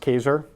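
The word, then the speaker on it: Kaczor: Christopher Kaiser was dispelled ka czo are but pronounced Kaiser he wrote a really good book called the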